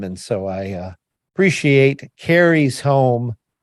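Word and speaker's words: Karis: a carrie home you you say carry home carries carries kerry it sounds really funny it's spelled k-a-r-i-f k-a-r-i-s carries home yep carries home is it apostrophe yes serious home yeah so it's carrie's home yeah i said it right look at me and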